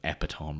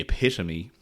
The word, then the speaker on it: epitome: In fairness, he correctly pointed out that I butchered the uh pronunciation of epitome. I think I called it epiome or something chronic. H, but look, I'm unfortunately the epitome of misprononunciations.